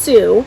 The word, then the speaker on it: Sioux: I don't know if that's the proper way to say it in French, but it is pronounced Sioux. That's the proper way in Michigan, apparently.